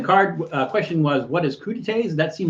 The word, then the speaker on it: crudités: But they're crudités and not crudites, although it's spelled like crudites.